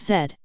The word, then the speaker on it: Z: Canadians you know that the last letter of the English alphabet is always pronounced Zed you know how to